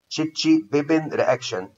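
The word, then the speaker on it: Chichibabin: تشيتشي بابين رياكشن ده، تشيتشي بابين رياكشن، تشيتشي بابين رياكشن، عشان سيادتك بس تعرف تنطق، تشيتشي بابين رياكشن او بين قوسين بيقول عليها امينيشن اوف بريدين.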